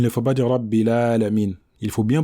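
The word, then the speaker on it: العالمين: Donc on ne va pas dire Alhamdulillahi Rabbil Alamina, mais Alhamdulillahi Rabbil Alamin. Donc lorsqu'on s'arrête sur le sukun, ici il faut bien prononcer la lettre Nun, sans exagérer, comme nous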